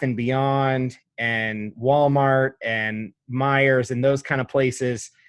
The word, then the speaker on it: Meijer: - for no reason yeah is it just Meijer did I say it right Kroger's my leg leg oh oh now I'll never forget it yeah you're welcome Meijer go to Meijer or targets Target Walmart that's